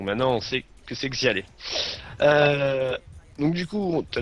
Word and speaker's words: XyaLe: y es attaché, c'est Xial ou Xialé qu'on dit? C'est Xialé. Donc en fait, D'accord, ça se d'accord. prononce K-A-L. Donc Xialé. Et à la fin, c'est un E.